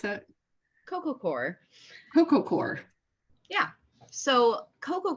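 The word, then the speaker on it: coco coir: pros and cons of cocoa how do you pronounce that Coco core Coco core yeah so Coco core and a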